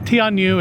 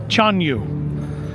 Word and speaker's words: Tianyu: I've been pronouncing the name of the show incorrectly. It's not Tanu. It's apparently Chon Yu.